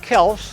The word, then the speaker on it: Kelce: Russell Kel, that's how he pronounced it, had an amazing story that I pretty much guarantee you've never heard before.